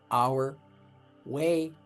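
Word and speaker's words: Argüelles: You can call him that because that's a really bad pronunciation. His name is Our Way.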